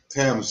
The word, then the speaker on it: Thames: had her on to Nancy Tams like the river I think in England yeah TS okay yeah